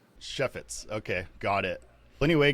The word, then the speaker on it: Chefetz: Chef with an S, Chefetz. Chefetz.